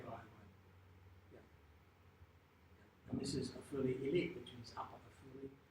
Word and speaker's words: Afula: This is Afuli. Again, Israeli people call it Afula. The Arabs call it Afuli.